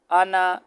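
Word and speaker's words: أنا: انا، یہ الف نہیں پڑھا جائے گا، یہ آگے کتاب کے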